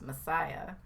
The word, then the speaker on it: MSIA: leader of the cult known as msia movement of spiritual spiritual inner awareness pronounced messiah john roger is a